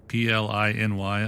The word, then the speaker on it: Pliny: Also, those of you who have seen that name, Pliny, P-L-I-N-Y, on the side of a bottle, now you know the proper pronunciation of Pliny the Elder.